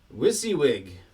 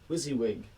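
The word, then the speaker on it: WYSIWYG: and then the last one is i'll just spell it w-y-s-i-w-y-g wissy wig wizzy wig we're going to be on these guys for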